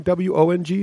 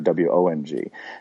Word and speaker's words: Wang: and Northern Chinese now is there a fanatical phonetical difference between w-o-n-g and and w-a-n-g no no really it's just Wong and Wong so it's the same